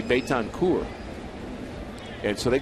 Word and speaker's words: Betancourt: And he actually told him that if you pronounce it Betancourt, that's an insult to my family ancestry, and for what that means in my village that I came from. It's really Betancourt.